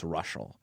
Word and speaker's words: Reuschal: to tune out like after the no it's russal and then there's more that you go to